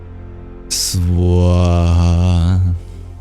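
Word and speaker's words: स्वाहा: And almost all bija mantras are one syllable, but this one is actually two. Swaha.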